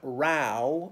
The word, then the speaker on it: row: but and we also have rau which is different route to rhyme with how and Road to rhyme with no so for us rau